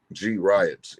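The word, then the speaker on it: Griots: Angeles riots so she Grio is spelled g RI TS but you separate the G from the Rios Grio G riots inner city G A lot of people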